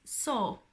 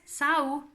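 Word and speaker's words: saw: Sí, el pasado irregular es so y no es sau, como la película esta de miedo Sau, que le llamábamos todos los adolescentes. En realidad la manera de pronunciarlo bien era so.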